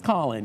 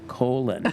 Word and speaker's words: Colin: so then you spells Colin you know and I said oh that's the problem see we would pronounce that colon you know and so